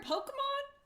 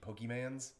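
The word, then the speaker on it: Pokémon: What she would say to annoy me would be Pokemans. Oh, yeah. And she'd add a Z at the end.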